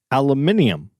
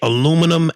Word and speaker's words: aluminium: No, aluminium. What? That's how they say it in London. They say aluminum, aluminium.